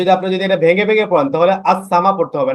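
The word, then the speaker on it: السماء: একটা বিষয় লক্ষ্য করেছেন দেখেন তো দেখেন এখানে আসসামা এখানে কিন্তু আসসামা আলিফ লাম আছে কিন্তু আলিফ লাম উচ্চারণ না হয়ে না আলিফ লাম আছে কিন্তু লামটা উচ্চারণ না হয়ে ডাইরেক্ট সিনটা উচ্চারণ হচ্ছে না আসসামা ইন্নায়ান্নাস সামা মানে লামের লামের কোন কিছু হচ্ছে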